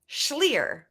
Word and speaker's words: Schlier: Elizabeth rhymes with here. Here, Schlier. Elizabeth Schlier.